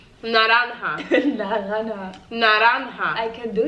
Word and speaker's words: naranja: Oh, Naranja is orange. That's hard. How? Naranja.